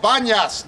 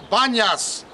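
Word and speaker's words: Banias: this place is called Banas named after the god pan Muslims Arabs can't pronounce the difference between p and B so they call it Banas but it was should have been pasas from the god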